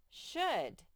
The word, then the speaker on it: should: large large two more sh should this is a silent l okay there you go